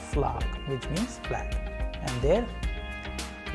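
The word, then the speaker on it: флаг: But in Russian sample word, we have exactly the same sound as in the word flag. Flag, which means flag.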